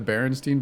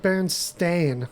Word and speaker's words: Berenstain: remember this being the Berenstein bears when it's like the bernstein bears it's like Berenstain like yeah it was like a totally different spelling and it's spelled like stayin in real life and I didn't remember